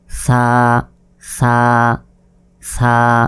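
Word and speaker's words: ث: আপনারা যারা প্রথম পর্বটি দেখেছিলেন আপনাদের নিশ্চয়ই মনে আছে সা অক্ষরটি অবশ্যই যেভাবে বের করে উচ্চারণ করতে হয়। ছা ছা ছা এটা শব্দের শুরুতে এরকম ভাবে ছাদ থাকে এটা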